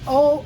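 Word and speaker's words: Haut: the aalas cont of this wine is an O made o ha u t pronounced o means upper in quality although it's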